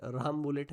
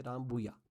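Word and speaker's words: Rambouillet: तो इसका जो प्रोनाउंसिएशन है यह राम बुलेट नहीं है। सो रामब है। ओके? यह रामबुया।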